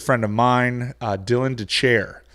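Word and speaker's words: Dethier: of mine uh dylan de chair spelled death ear pronounced the chair uh who is a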